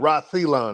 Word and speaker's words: Celyon: He picks it up and he pronounced my name perfectly, which hardly anybody does. And shout out to you. You pronounced it right, too. But he said, "Reon."